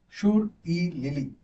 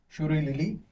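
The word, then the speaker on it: Shirui Lily: Today's most important piece of information, Shur-e-Lili festival. So you have to pronounce it as Shur. You have to pronounce like this. Shur-e-Lili festival.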